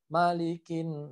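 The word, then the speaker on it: مَلِكِ: Yang harus diperhatikan adalah mimnya pendek. Ya, ingat, mimnya tidak panjang. Karena dari kita masih banyak orang yang bacanya malikin nas gitu ya. Karena kebiasaan di Al-Fatihah maliki yaumid. Nah, jadi kadang kebawa-bawa ke huruf An-Nas. Padahal mim di situ adalah pendek. Jadi bacanya malikin.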